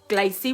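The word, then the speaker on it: glacé: Glacy, what rhymes with Tracy.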